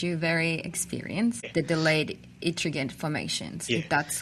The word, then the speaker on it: Ettringite: So today we are discussing a very interesting subject in which you're very experienced, the delayed Ettringite formations, if that's how it's pronounced.